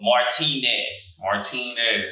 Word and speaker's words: Martinez: So be sure you pronounce the Nez on the end.